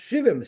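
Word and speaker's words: שבעים: Now when Shivu Ayim is spelled without a vav, it should be pronounced Shivim, 70.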